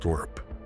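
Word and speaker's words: LRRP: Steel and water weighed too much and made noise, so the army developed something new in 1964, a freeze-dried ration the men pronounced lurp.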